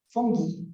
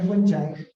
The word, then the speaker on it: fungi: Third will be the fungi, or the fungi. Yeah, so sabi kasi ng mga Germans, fungi daw yun, hindi raw fungi. Kasi nga, yung pag, kunwari, paano mo ba ipopronounce yung singular form ng fungi? Di ba, fungus? O, di ba? Pinalitan mo lang yung US, naging G, naging J na yung G, no? Ayan, so fungi daw.